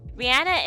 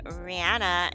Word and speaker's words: Rihanna: wondering why I'm saying Rihanna instead of Rihanna because Rihanna confirmed that everyone has been saying her name wrong that it's not Rihanna it's Rihanna so get it together people